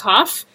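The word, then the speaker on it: כ: doesn't have the dot, if you pronounce chaf as hey, you can fundamentally change the meaning of a word.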